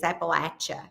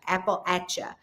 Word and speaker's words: Appalachia: So, think of it as an apple at like I'm throwing an apple at. So, that's how you say it is appalacha. Apple ata.